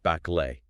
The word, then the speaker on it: Bắc Lệ: Specifically, we're analyzing the clash at Baklay. And just to jump in real quick, Yeah. Go ahead. Just to plant this in your mind right away, you pronounce that Blay. Baklay, right?